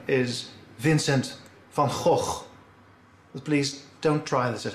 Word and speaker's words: Vincent van Gogh: good come on come on the correct dutch pronunciation is vincent van gogh please don't try this at home there you